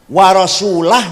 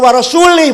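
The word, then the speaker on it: وَرَسُولُهُ: Salah. Baca yang benar. Innallaha barium minal musyrikina wa rasulah. Allah tidak melindungi orang musyrik. Rasulullah pun tidak melindungi orang musyrik. Karo rasulullah. Jawab bacanya. War rasulah. Maknanya Allah tidak melindungi orang musyrik dan Rasulullah pun tidak melindungi orang musyrik. Kalau warasulih bacanya Allah tidak melindungi musyrik dan tidak melindungi Rasulullah.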